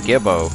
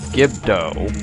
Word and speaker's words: Gibdo: uh jump attack guys if you really hate gimbo or gibdo you need to say his name right you can pretty much